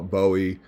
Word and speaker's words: Bowie: buoy had died okay I call it buoy if you want to call it Bowie I really don't care um from what the research I've done in Northern Texas it was buoy as in Boo buo E uh other parts of